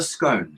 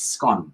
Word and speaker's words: scone: Then you get what we call the humble scone, and it's not a scone, it's scone. Even though it's spelled S-C-O-N-E, it's scone, as in on, not scone, as in gnome.